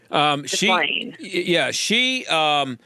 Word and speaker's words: Ghislaine: Now, let's get, I don't know how you pronounce her name. Is it Ghislaine Maxwell? Ghislaine.